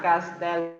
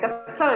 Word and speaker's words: castle: No, not castle, but castle. Castle. Enggak, T-nya enggak Castle. Castle. Nah, tuh, Castle. Castle. Iya. Castle. Ya. Bukan kesel ya.